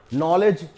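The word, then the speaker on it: knowledge: यहां के साइलेंट हुआ इस वर्ड में नॉलेज इसमें तो बहुत सारे लेटर जो है वो साइलेंट हो जाते हैं के एन ओ तो नॉलेज जो है के एन ओ एल आई दी जी तो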